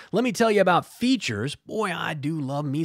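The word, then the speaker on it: Feetures: But first, let me tell you about Features. Boy, I do love me some Feature socks. So Features, and that's spelled F-E-E-T, like feet, F-E-E-T-U-R-E-S.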